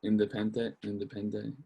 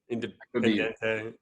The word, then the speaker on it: Independiente: So they're saying, I think it's pronounced Independente or something. Yeah, Independiente. Yeah.